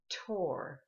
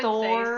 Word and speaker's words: Thor: You said Tor. Mm-hmm. Are we Americans calling I would Thor? say so, yeah. I think I wouldn't call it Thor. I consistently call it like, oh, the movie Tor 2 is coming out, and my kids will say, no, it's Thor. I'm like, no, it's not. It's really not.